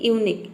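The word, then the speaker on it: unique: यूनिक यहां पे देखिए यू का हो जाएगा यू एन का हो जाएगा न आई का हो जाएगा ई और क्यू यू ई इन तीनों का हो जाएगा क पूरा हो जाएगा यूनिक यूनिक मतलब होता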